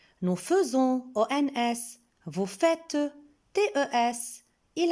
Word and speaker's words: faisons: Je remarque qu'avec le pronom personnel nous, on voit dans le verbe est, AI, mais on prononce E et on dit nous faisons.